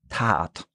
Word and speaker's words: Tat: Short a Tasse or like a Tat, like you're kind of stretching it out.